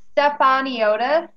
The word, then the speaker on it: Stefaniotis: I believe it's Stefaniotis, like Stefan Eotis.